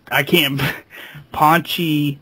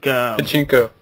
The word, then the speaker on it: pachinko: work developing software for Paunchy slot machines. Is that how you pronounce that? It's pretty much like Pachinko. Yeah, pachinko. Yeah.